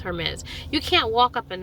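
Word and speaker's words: Hermès: Um is it May or Hermes? Hermes.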